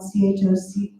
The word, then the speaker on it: chocolate: But we say chocolate because we want to hit the chalk and we want to hit the let, and we don't care about the O. We're just like, forget about that silly little O, because we got a chocolate because we're a stress-timed language.